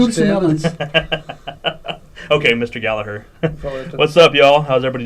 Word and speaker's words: Gallagher: Gallagher. Nice. Mr. I was going to throw the G in there. Gallagher. There's no G in Gallagher, there. no G.